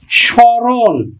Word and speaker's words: স্মরণ: করতেছি কিন্তু সারক স্রণ শব্দের আদিতেই ম ফলা আছে তাহলে ম ফলার উচ্চারণ হবে না আমরা উচ্চারণ করব কিন্তু স চন্দ্রবিন্দু দিব ম ফলার জন্য সরণ আমরা মূর্ধন্য ন উচ্চারণ করি না দন্তন্য উচ্চারণ সারক স্মরণ আরেকটি শব্দ